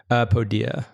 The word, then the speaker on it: Podia: Podia. So it's the plural form of podium, Podia. But like, honestly, sometimes I say it both ways.